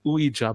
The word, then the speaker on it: Ouija: And then it came to me, and fucking Ouija board. Did I pronounce it correctly?